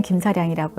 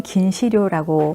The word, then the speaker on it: 김사량: 쓰고 한자는 똑같이 쓰고 한국어로는 김사량이라고 읽고 일본어로는 긴 시료라고 쓰는 자신의 어떤 정체성의 갈등이 반영된